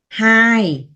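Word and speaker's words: ຫ້າ: Hai là sóng.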